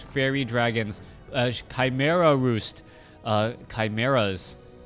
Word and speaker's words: chimera: dragons Chimera Roost uh chimeras I know some people say shimra I I say Chimera um I think that's what the Oxford dictionary website actually pronounces it chimeras anyways let's go ahead